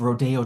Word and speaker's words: Rodeo: Also the idea of Rodeo drive which is pronounced in the Spanish way rodeo and therefore has a chic connotation that insider knowledge the jeans cua that is so very gay.